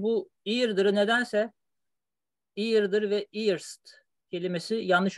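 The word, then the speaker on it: eerst: Genelde bu iyirdir nedense iyirdir ve iyirst kelimesi yanlış okunuyor. Çok duyuyorum. İyi. Çok uzun yıllardan beri burada kalanlarına duyuyorum bunu. Iyirdir veya iyirst. Hani genelde erst diye, erste falan diye duyuyorum.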